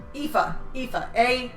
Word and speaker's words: Aoife: Aoife.